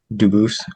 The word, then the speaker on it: Dubus: I am Duboose. Um, Dubis is the English pronunciation. Duboose is the original French.